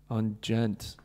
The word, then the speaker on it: djent: does it gent" and gent is spelled djent.